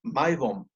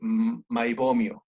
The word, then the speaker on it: Meibom: el médico alemán heinrich maibom eh en español es un poco extraño decir maibom Bueno entonces se pronuncia tal cual entonces eh se llaman